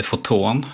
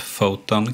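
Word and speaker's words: Photon: Sen så har vi också ett som kallas för, lite osäker på hur det uttalas, men jag säger foton. Vi antar att det heter typ foton kanske.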